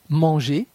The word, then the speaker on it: manger: La terminaison ER de l'infinitif des verbes du premier groupe se prononce E. Marcher, marcher, manger, manger, aller, aller. La terminaison EZ de la deuxième personne du pluriel se prononce E.